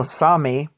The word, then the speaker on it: Sami: You know, Sami, or Sapmi as it's written, but it's pronounced Sami, is very strong within my family.